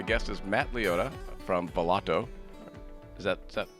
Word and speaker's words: Volato: is matt leotta from valato is that pronounced correctly matt yeah that's correct it's an italian word so we we all